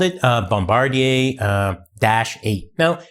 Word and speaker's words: Bombardier: Hey, so uh Bombardi is pronounced Bombardier. Okay, like we're in Canada, right? And uh it it's pronounced bombardia because it's French.